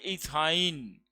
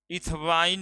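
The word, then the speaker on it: ethyne: Triple bond के लिए suffix YNE लगता है, और ये पढ़ाता है इथाइन, इथवाइन नहीं, इथाइन, है ना, अ है प्रोनाउंसिएशन, हाँ इथाइन। CH3 CH triple bond CH,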